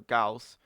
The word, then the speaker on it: Gauss: forgotten just how insane Goss is or gaus um if you want to pronounce it that way I I I'll just